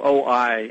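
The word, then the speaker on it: Ōi: It's spelled O-I, and I've heard it's pronounced OI, the OI units.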